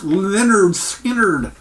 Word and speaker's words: Lynyrd Skynyrd: last Lynyrd Skynyrd here is their debut album pronounced Lynyrd Skynyrd there's the back of it and what a